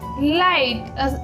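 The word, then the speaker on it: light: आई के आफ्टर अगर किसी भी स्पेलिंग में जी एच आता है तो उसका बिल्कुल हल्का सा साउंड आता है. ओके, जैसे कि आइट, इसमें बिल्कुल हल्का सा होता है जिससे हमें नहीं पता चलता. ओके, क्योंकि ज़्यादा डार्क साउंड नहीं होता है, बिल्कुल लाइट सा साउंड होता है. इसलिए आप सोचो कि साइलेंट है.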